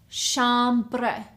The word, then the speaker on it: chambre: The third word is chambre. Chambre. 2 syllables.